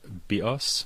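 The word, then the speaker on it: βίος: go to the Greek for this, the word bios means life in Greek, and the word bios, with the stress on the second syllable, means bow, as in bow and arrow.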